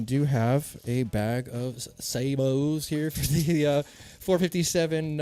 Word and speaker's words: sabot: have a bag of sabos here for the uh 457 um 457 s45 now I went on I went on Webster's dictator dictionary and the actual pronunciation is not sabot it is Sabo straight up so I